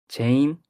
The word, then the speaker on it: Xein: It's just like Korean people pronounce it like Jane. Yes. Like not X, it's like Jet.